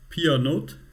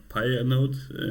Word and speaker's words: pyannote: source um it's called PR node and it's pronounced apparently somewhat French I'm pretty bad in French pronunciation so not fully sure how it is correctly but it's not Pi a note how I used to